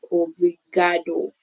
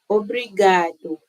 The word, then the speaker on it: obrigado: I also want to learn on pronouncing because me looking at the word, I'll just go like obrigado, but it's actually obrigado. Okay. Obrigado.